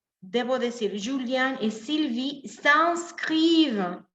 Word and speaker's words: s'inscrivent: Entonces, perdón, debo decir, Julien et Sylvie s'inscrivent à l'université. IN en francés tiene sonido de en.